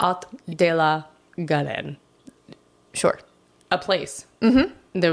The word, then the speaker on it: Haut de la Garenne: It's H-A-U-T. But I don't think you pronounce the H when this is unimportant. Haut de la Garenne.